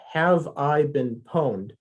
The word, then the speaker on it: Have I Been Pwned: So if you go to Have I Been Pwned, that's how it's pronounced, PWNED, Have I Been Pwned, .com.